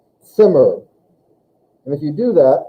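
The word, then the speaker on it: Zimmer: in german it's pronounced simmer simmer so i always feel like there's like a a t sound in front of the z sound simmer and if you do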